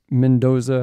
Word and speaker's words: Mendoza: We got a special guest appearance, Mendoza.